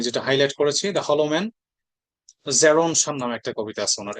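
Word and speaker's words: Gerontion: জেরন শান নামে একটা কবিতা আছে ওনার, এইটার উচ্চারণ হচ্ছে আপনার জেরন শান, এটা খেয়াল করবেন।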